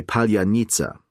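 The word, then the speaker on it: palianytsia: You would ask someone to say palanita, a traditional Ukrainian bread roll. But Russians couldn't pronounce it properly. When they said it, it sounded like polonitsia, the word for strawberry.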